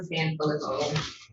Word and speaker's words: Sanfilippo: Tom Sanfilippo. Pronounced that correctly.